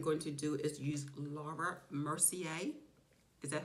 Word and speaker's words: Laura Mercier: thing I am going to do is use Laura Mercier is that how you pronounce it yes okay so I'm going to